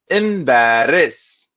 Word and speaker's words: embarrass: first one is where many people confuse this with the word embrace which means to hug